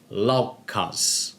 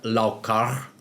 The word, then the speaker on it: Laukaz: du contexte germanique - signifie donc qu'il devrait être prononcé comme "z", donc la formule sonnerait en fait comme LaukaZ, mais prononcée comme "r" (LaukaR) si à la place nous voulons le prononcer comme il a été prononcé pendant l'âge viking pour la même rune,